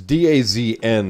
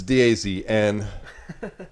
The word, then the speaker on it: DAZN: service and days it's Daz and that streaming service now technically they tell us it's supposed to be pronounced does zone but I have